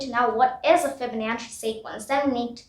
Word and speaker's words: Fibonacci: Now here I want to emphasize, here the CC section is pronounced as CH. Fibonacci sequence. It's not pronounced as Fibonacci. That's wrong. I also, when I practiced first, I said key, but then I found out it was chi.